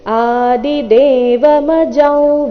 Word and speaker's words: ಆದಿದೇವಮಜಂ: ಆಘಾತ ದಿವ್ಯಂ ಆದಿದೇವಮಜಂ ವಿಭುಂ ಆದಿದೇವಮಜಂ ಅನುಸ್ವಾರದ ಉಚ್ಚಾರಣೆ ನಾಸಿಕ ರೀತಿ ಆದಿದೇವಮಜಂ ವಿಭುಂ ನೋಡೋಣ ಮೂಲಗೀತೆಯ ಪ್ರಕಾರ